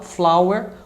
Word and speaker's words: flower: Em geral o OW tem som de AU, mas nem sempre, tem casos que tem som de OU. Então não se pode levar por regras, nem por tabelas de pronúncia, isso é tudo furado. Você tem que aprender cada palavra do jeito correto.